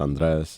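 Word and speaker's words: Andrés: Unless you like are Hispanic and can actually like roll your R's kind of thing.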